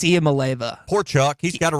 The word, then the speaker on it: Iamaleava: I don't even think I could spell it if it was in front of me. I can't. Nico Iamaleava. There you go. Can you say it? Iamaleava. It's Hawaiian, right? Iamaleava.